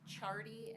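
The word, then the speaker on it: Ciardi: him state calls Chardy and that is pronounced C or spelled excuse me C I A R D I thank you Good afternoon, sir.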